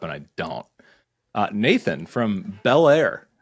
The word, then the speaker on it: Bel Air: You even know where Bel Air is? Am I You're pronouncing home to that Bel right?